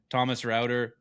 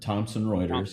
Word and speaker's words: Thomson Reuters: Um Chris, you guys have picked up some incredible awards, Forbes, Thomas Reuters. If I Did I Did I pronounce that correctly again? I know I asked you last time. Thomson Reuters, yeah.